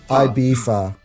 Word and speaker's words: Ibiza: Yeah, it's pronounced Ibiza.